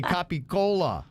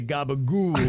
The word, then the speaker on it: capicola: said Virginia is wrong authentic Italians pronounce their words New Jersey New York Italian Americans do that ridiculous thing where they drop the ends of words Italians say capicola New York Italians say the gabagool stuff well to me I